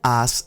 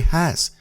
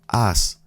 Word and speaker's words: has: es estado hola como as estado once again the h is silent you don't say has you say as estado moving amigos it was